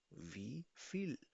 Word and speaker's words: wie viel: Pronounce with me. Wie viel. We feel. We feel. Feel.